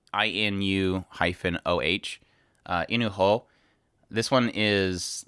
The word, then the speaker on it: Inu-Oh: If you guys get a chance to check that out, it's spelled INU-OH.